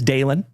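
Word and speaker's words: Dalen: My name is Dalon. D A L E N like Dale plus N.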